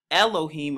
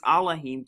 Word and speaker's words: Elohim: against what you may call in the Hebrew Elohim." Another way to pronounce that is Elohim, to blaspheme his name and his tabernacle and them that dwell in Shamayim, or heaven.